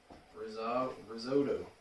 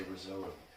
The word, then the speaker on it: risotto: That's what Americans say. Americans say risotto. I don't know why they say risotto when it's risotto. Risotto is what we'd say here. But in Italy they would say risotto. Risotto. That's how they say it in Italy. In Ireland we say risotto.